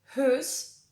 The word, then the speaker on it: whose: siempre es así, porque a veces cuando la W va seguida de una H, se vuelve muda y no se pronuncia. Por ejemplo, en who, whose, y lo mismo pasa con la palabra whole.